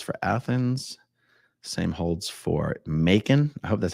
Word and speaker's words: Macon: It's Macon. I don't know, Venus Blue. It can be interpreted a few different ways here. Oh, rhymes with bacon. That's what I like to hear. Macon, Georgia.